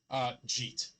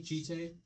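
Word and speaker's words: Jitte: I pronounce this Jeet. I like Jite. It rolls off the tongue better.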